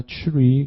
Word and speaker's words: tree: tr 발음은 추 발음이에요. 트르 발음이 아니라 트리가 아니라 tree, 그죠?